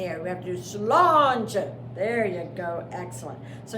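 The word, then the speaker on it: sláinte: Health cheers or health and this word is pronounced slanging so it's slow too so you have to raise your hand up in the air we have to do Solange there you go excellent so now you can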